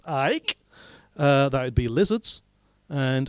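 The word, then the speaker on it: Icke: people such as david i am now taught to pronounce ike that would be lizards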